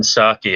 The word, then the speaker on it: Psaki: The P in Jen Psaki is silent, just like the P in President Biden, by the way.